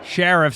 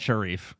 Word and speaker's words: Sheriff: Sheriff playing at PACE Sheriff sir it is not Sharif you know I don't